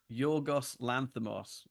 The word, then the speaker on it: Yorgos Lanthimos: Yorgos Lanthimos. Thank you.